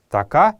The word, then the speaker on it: така: Така означает курица. Така — так это слово произносится на калмыцком языке с протяжным произношением последней гласной.